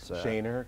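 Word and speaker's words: Schoenherr: what's your choice okay you know how to pronounce certain road names like schoener yes Shaner right and if you're on outer Drive you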